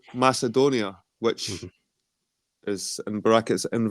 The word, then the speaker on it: Macedonia: the whole thing about Macedonia where I would say you have to focus is the middle syllable Edon you know the caledonians the mass edoni that kind of Edon part is where the focus needs to lie rather than before it